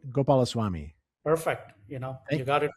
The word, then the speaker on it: Gopalaswami: We're thrilled to have on our podcast today, Bharath, I'm going to try and say it right, Gopalaswami. Did I say it right? Gopalaswami.